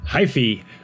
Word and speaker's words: Hyphy: the last video where I was calling it the Hyphy. That is wrong, and I've been told so multiple times. So the proper pronunciation is Hyph, as in wife, apparently. So with that out of